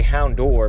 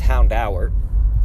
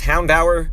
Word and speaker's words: Houndour: tower it's funny because i used to always say hound door but i believe it's actually pronounced hound hour and of course no